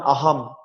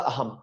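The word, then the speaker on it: অহম্: যেমন অহম, অহ অনুসার বাংলাতে হলো অহং, সংস্কৃত হলো আহম।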